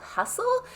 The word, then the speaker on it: HUSTL: to the Pilates program called hustle and it's spelled h-u-s-t-l no e um and they use I